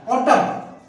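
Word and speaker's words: autumn: एम के बाद एम आया, ऑटम, ऑटम म बोल रहा हूं मैं, ना नहीं बोल रहा हूं।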